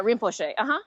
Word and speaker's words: Rinpoche: And it was, I don't know if I'm going to pronounce this right, but it was by Chogyam Trungpa Rinpoche. I say that right? No, yeah, Rinpoche.